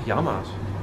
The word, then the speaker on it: Yamaha: Hoe spreek je dat uit? Ik zeg Yamaha's.